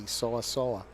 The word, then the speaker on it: Seoa: So it's like saying soda minus a D. Seoa.